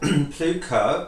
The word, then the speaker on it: Plewka: First and foremost, tell me, where does the name Plewka come from? Well, Plewka, which should probably be pronounced Plewka, is from Prussia, which is a former kingdom of Germany.